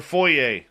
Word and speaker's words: foyer: And your foyer? Which is the proper pronunciation.